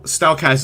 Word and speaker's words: Stalkaz: So, Stalkaz is actually combined with two names. Stal is like the first part of Stallion, and then the Kaz part of K-A-Z.